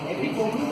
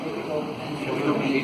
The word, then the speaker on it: epitome: Not be And epitome or epitome? Epitome. The word epitome is pronounced.